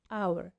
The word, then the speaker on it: hour: الاتش مش حرف متحرك، بس لو ركزت كده في النطق an hour الاتش silent يعني ما بتتنطقش، لكن اول حرف بيتنطق في الكلمة هو حرف الاو اللي هو حرف متحرك.